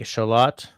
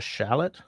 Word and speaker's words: shallot: right get it right another one though is you know the small French onion that those in the no in the note call a shalot and Americans call a shallot if I'm watching like